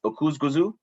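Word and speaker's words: Öküzgözü: it to us uh how to exactly pronounce these two grapes so it's oku's guzu and bow at skera and uh valencia actually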